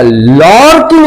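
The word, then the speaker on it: lurking: द way side अच्छा लकिंग लिखा गया है एल यू आर के आई एन जी लॉर्किंग नो it will pronounce as pronounce होगा कैसा लॉकिंग ऑन द way side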